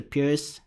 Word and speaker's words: Pirc: Then I played the burn variation of the perk. Others pronounce it as the Pirc. It doesn't even matter.